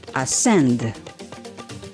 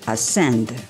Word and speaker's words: ascend: And then ascend, ascend. C in ascend is silent.